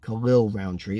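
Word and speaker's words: Khalil Rountree: way it kind of he beat khalil roundtree khalil roundtree that's how it's pronounced now and he beat khalil roundtree pretty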